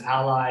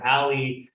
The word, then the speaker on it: a11y: my hat hashtag a11y a lot of people pronounce it as ally or ally but if you have